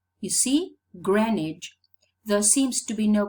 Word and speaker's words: Greenwich: If we go down to Greenwich, Greenwich, Greenwich, you see, Greenwich, there seems to be no correspondence between pronunciation and spelling.